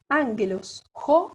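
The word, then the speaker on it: ἄγγελος: Esta palabra es una palabra proparoxítona. ¿Por qué? Porque tiene 3 sílabas y en la antepenúltima sílaba tiene acento agudo. Ángelos. Aquí, an sobre la alfa tiene el acento, ¿sí?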